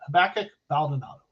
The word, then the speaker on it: Habakkuk Baldonado: the guy from Pittsburgh I only know that because habakkuk is a book in the Bible the Old Testament habakkuk baldonado so I can pronounce that one from years ago all